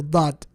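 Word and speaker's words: ض: Is 1 letter, the letter dad. Basically, it means that it literally takes up all of your mouth when you're pronouncing it.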